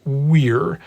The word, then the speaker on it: vir: root ver V however In classical Latin I I I should pronounce that word as Weir there is no V sound in Latin it's it's more of a w sound nor for that matter